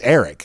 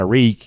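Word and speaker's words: Arik: to time who say well actually no it's it's eric uh it's it's uh it's eric it's not a reek you know even though georgia kind of uses more of the a reek pronunciation what does he prefer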